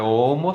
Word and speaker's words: Homo: E aquele H não é pronunciado, é Homo sapiens.